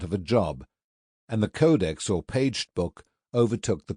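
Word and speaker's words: codex: It is pronounced codeex and its plural is codices.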